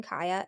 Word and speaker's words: Cieha: They have their Facebook page, which is Finding Kaya, and like I said earlier, it's spelled Cieha.